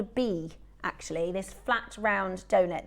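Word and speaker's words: bi: Um, but it's pronounced as B.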